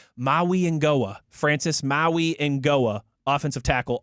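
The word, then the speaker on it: Mauigoa: Francis Maui Ngoa, I believe is how he pronounces it, according to, again, the University of Miami pronunciation guy. Maui Ngoa, Francis Maui Ngoa, offensive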